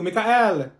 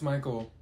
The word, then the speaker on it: Michael: Thank you, Mikael! Ma'am, it's Michael.